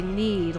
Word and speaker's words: Nede: For we are from Nede, just as you are. Huh. Well, I guess now we know how to say it. They say need like mead instead of Nede.